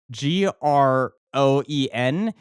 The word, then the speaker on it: groen: But then that reminded me that the Afrikaans word for the color green is spelled Groen, and it's pronounced groen.